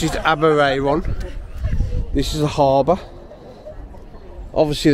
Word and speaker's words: Aberaeron: I think they pronounce it Aberaeron.